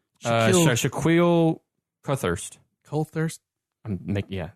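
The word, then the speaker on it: Coulthirst: Colthurst? Yeah. Coulthurst.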